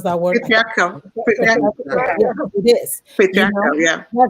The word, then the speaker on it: patriarchal: How do you pronounce that word? Patriarchal.